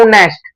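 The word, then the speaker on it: honest: पे मैं लिखता हूं ऑनेस्ट क्या लिखता हूं ऑनेस्ट ऑनेस्ट ऑनेस्ट यहां पे जो एच है मेरा ये क्या है ये मेरा साइलेंट होता है क्या होता है यहां पे साइलेंट आता है और यहां पे ओ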